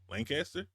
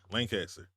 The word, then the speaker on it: Lancaster: Lancaster?